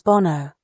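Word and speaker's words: 煩悩: In Buddhism, what you're calling bad instincts are known as bonno. Bonno, with two N's, like bone and no, but the meaning is a lot deeper than bad instincts.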